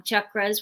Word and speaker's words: chakras: work with chakras or i know we pronounce it chakras but um chakras which are based in